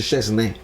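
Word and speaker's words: Szczęsny: Si dice Szczesny, poi l'inizio è difficile, non lo so dire nemmeno io, ma il finale è ne, non si dice ni, ma non importa, ve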